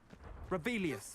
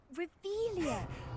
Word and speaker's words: Revelio: Rebellious. You're saying it wrong. Ugh, Revelia. Much better.